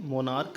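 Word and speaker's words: monarch: तो ठीक है, मोनार्क है, इसमें हम लोग क्या करेंगे, ई एस नहीं जोड़ेंगे, क्या जोड़ेंगे, एस जोड़ेंगे। क्यों? क्योंकि जो सी एच है इसका प्रोनाउंसिएशन क्या है? क है।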